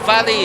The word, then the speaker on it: Vale: Then they will break into Vale, or Valley as it's pronounced correctly, and Hamilton's already, he's flying